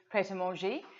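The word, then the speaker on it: Pret A Manger: I know that's a horrific pronunciation, but in the UK we do say pret-a-manger, which is or just that is another thing, or just pret for a food chain.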